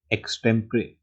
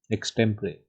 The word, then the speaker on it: extempore: But the correct way here is extempore. So an extempore meeting was called without notice to terminate employees who hadn't lived up to performance standards. This is the right way to pronounce this word, extempore.